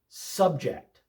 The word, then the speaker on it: subject: Subject with the accent on the second syllable, subject is a verb meaning to impose something or make someone endure something.